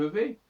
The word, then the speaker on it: vais: Parce que on va dire je vais au lieu de je vais. Et en plus, le VAIS, le S du VAIS ne se prononce pas.